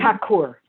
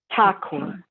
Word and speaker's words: Thakur: Thakur. TH. You don't pronounce the H, and the accentuation is on that A with that line over it. Thakur.